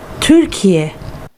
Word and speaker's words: Türkiye: So let's try and put this all together now, just for the Turkish pronunciation. Let's have our lady speak for a second here. Türkiye. Türkiye.